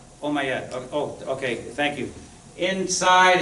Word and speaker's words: Umayyad: Okay, so here in this mosque, the great mosque of Damascus, do you know how to pronounce it correctly? Umayyad.